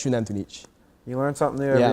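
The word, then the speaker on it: Xunantunich: Oh yeah, the Mayans pronounce their X's like Shunantunich is spelled with an X at the beginning, and it's not like Wantunich or anything like that. It's Shunantunich.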